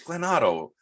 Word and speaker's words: Glen Otto: or whatever no it's glennotto you say his name the same backwards and forwards just the way he pitches